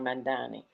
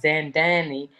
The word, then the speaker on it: Mamdani: White House response to Zohran Mamdani. Trump's administration mispronunciation of his name in an online video. The House Secretary referred to him as Zandani and a known communist.